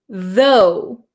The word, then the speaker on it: though: So, the first word you have is though. Though. So, there's no r sound, right? You have a strong th sound.